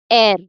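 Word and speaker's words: heir: So h e i r it is pronounced as air. So an air because again the first word it doesn't sound like the h is the h is not pronounced.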